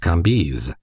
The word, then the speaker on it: Cambis: There were in Madame de T.'s salon some very noble ladies named Mathin, Noé, Lévis, Levis, which was pronounced Lévis, Cambise, Cambis, pronounced Cambise.